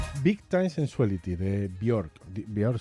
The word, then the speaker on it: Björk: Björk se pronuncia Björk. A todos nos han dicho que se pronuncia Björk. Björk, sí. Sí, pero como que esta es finesa, ¿no? ¿no? De Islandia. Islandesa. Islandesa. Claro, o sea, nos han dicho que es Björk, pues ya está, pues Björk, pero vete tú a saber cómo se pronuncia de verdad, ¿no?